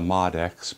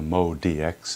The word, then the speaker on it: MODX: Not the MODX, but the MODX is how they pronounce it.